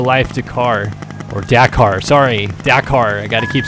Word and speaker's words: Dakar: Or Dakar, sorry, Dakar. I gotta keep saying it to myself to remind myself, Dakar.